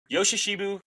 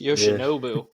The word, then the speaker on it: Yoshinobu: Yoshishibu Yamamoto. This season has got an N in there. It's Yoshinobu.